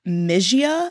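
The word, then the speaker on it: Mysia: searching for someone in mijia I think is how it's said my y s i a the two twins convinced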